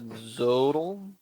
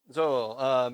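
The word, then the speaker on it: Xolo: Zodal? No, it's not Zodal.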